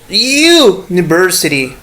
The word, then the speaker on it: university: For example, university. You see, the spelling is u, as you said this in Spanish, but pronunciation is you.